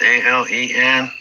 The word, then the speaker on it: Alan: A L E N.